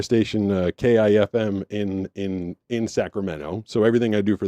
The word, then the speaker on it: Sacramento: little colloquial things like people in Sacramento don't say Sacramento which I did not know they say Sacramento they don't put the T in it at all but it it